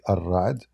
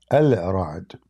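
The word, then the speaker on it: الرعد: Like, I mean, when they say Ar-Ra'd, they are just saying it how they pronounce it, but it's not correct. Al-Ra'd.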